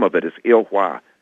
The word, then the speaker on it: Ilhwa: But the name of it is Ilhwa. It's spelled I-L, 2 words, I-L-H-W-A.